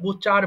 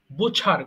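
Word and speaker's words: butcher: বাস চালক বোঝার কসাই এটাকে আমরা বোচার বলি বাট অবশ্যই ছ উচ্চারণ করবেন তাহলে এটা হয়ে যাবে বোঝার কসাই বুঝছ বোছার কসাই খারপেন্টার কাঠমিস্ত্রী খারপেন্টার কাঠমিস্ত্রী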